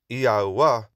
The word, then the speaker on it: Yahuah: However, Yahuah is the more accurate.